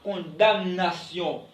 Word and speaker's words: condamnation: On ne dit pas condamnation. On dit condamnation. M dans le mot condamné ou condamnation, M ne se prononce pas.